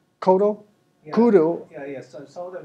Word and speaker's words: Kodo: drums i think they're called what they're called koto drums they're huge it did did i pronounce that correctly kodo kudu yeah yeah so that was pronounced a